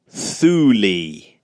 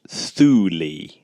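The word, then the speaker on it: Thule: to be nicknamed Ultima Thuly. Is it Thuly or Thu? Well, it it it's spelled T H U L E, but it's pronounced Thuli.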